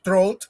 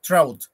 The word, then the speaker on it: Trout: ellos en este caso trout o se lee en español trout pero se pronuncia en inglés trout eh encontramos una primera